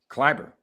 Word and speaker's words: Kleber: Where you get an I from with an E? It's just the way they pronounce it. Kleber. Okay. But that's what he calls himself. I mean, He's a long E or a short E? Which one are we doing there? School teacher? They're giving him an I. I'm just asking. Ain't no I in there.